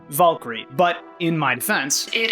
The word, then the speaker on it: Valkyrie: Now, some people are gonna take issue with my pronunciation, Valkyrie, but in my defense, it is actually pronounced as Valkyrie.